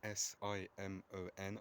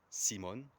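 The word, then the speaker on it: Simón: the Spanish Empire Simon so in his name s i m o n I'm pretty sure the accent is on the o which means means you don't say it Simon you say it Simon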